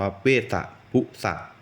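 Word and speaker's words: เวสสะพุสะ: จำ ผิด ก็ เลย ทัก ไป ถาม อาจารย์ นะ ครับ อาจารย์ ก็ แจ้ง มา แล้ว ครับ อ่าน ว่า เวสสะ พุสะ เป็น หัว ใจ เท้า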